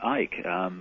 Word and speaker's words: Icke: They called me Ike. They called you Ike? Yeah. I mean, you don't pronounce the C.